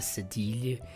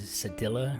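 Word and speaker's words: cédille: The really cool one, though, is the cedille, but I think we say in anglicized pronunciation is cedilla, right?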